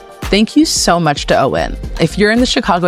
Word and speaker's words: Eoin: And Owen is spelled E O I N.